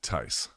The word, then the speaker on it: Theis: The Tice that I had at boot camp was Theis, but he pronounced it Tice.